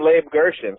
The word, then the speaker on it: Leib Gershon: Well, for Hebrew purposes, I'm Leib Gershon. For like English purposes, It's a Scottish name.